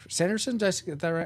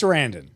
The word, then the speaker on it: Sarandon: um Chris Sanderson gave Sanderson yes no siren Chris Sarandon yeah you're asking the guy